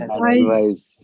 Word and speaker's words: advice: How would you pronounce it? Advise. Advice. Advise, yeah. Advice. Now that's a big difference.